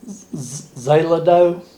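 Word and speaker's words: Xeloda: peel and the name of the drug is zelido it's spelled x-e-l-o-d-a and uh this is pills i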